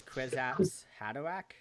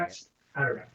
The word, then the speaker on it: Kwisatz Haderach: I think it's Kwisatz Haderach. That's how I say it. Kwisatz Haderach.